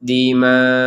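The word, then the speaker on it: الدماء: Ini kita memang wajib sampai di hamzah cara membacanya. Ini membacanya 4 sampai 5 harokat. Wa yasfikud dima. Jadi terakhirnya hamzah. Jadi tetap harus hamzah walaupun tidak ada harokat, tetap ada terbaca. Dima. Jadi tetap harus ada penekanan di hamzahnya biar terbaca.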